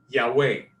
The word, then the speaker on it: Yahweh: Biblia en español, pero Jehová nunca fue la expresión ni la pronunciación de la palabra, ni de los profetas, ni de Israel, ni de Jesús, ni de los apóstoles, ni de la iglesia primitiva. Ellos no conocieron esa pronunciación. conocían Yahweh.